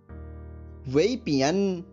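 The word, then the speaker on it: 外边: अब इसका ध्वनि वादन सुनिए, वेपियन वेपियन वेपियन।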